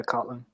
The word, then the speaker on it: Kotlin: I was going to ask if you, on the topic of Kotlin, that's pronounced? Yeah, Kotlin.